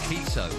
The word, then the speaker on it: Enciso: Enciso, see? That's how you pronounce it.